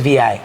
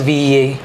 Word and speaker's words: Vee: met V, I never knew it was VI. I thought it was VEA. Yeah. I always thought it was VEA, and then I think one day I looked at her bio and it said pronounced VI. Yeah. And I was like, wait, like Victoria Island?